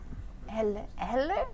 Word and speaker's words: Heller: So we welcome Heller. Is that how you say it? Heller? Yes, Heller.